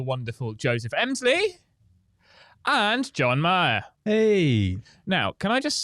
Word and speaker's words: Meagher: have got the wonderful Joseph Emslie and John Meagher. Hey. Now, can I just say, I always say Meagher. Is that correct? No, not even close. Not even close? No, it's good. Meagher.